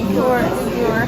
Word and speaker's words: Uyghur: We're here at a Uyghur. I'm not sure if I'm pronouncing correctly. How do you pronounce it, Josh? Uyghur.